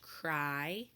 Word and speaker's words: cry: but the sounds match cry hi they rhyme I and I we have learned that a why at the end of words can make the I sound and an i GH